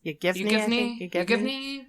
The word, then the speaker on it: Yevgeny: Yevgeny? Yeah. Prigozhin. I'm sorry. I can only do pierogies, okay? But it's spelled Yevgeny, first name.